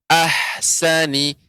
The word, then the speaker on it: أحسن: Ya, saya terdengar untuk pengucapan ha. Ya, ahsani, ahsani. Tidak sampai, tidak menjadi memantul haknya. Ahsani, ahsani. Ya, yang benar ahsani, ahsa. Jadi haknya tidak memantul.